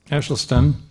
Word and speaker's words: Esselstyn: Caldwell Esselstyn. It's a Dutch pronunciation, and I tend to do it in German.